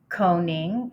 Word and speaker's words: Koenig: Uh, that distinction falls on Julian Coning. It's spelled K O E N I G.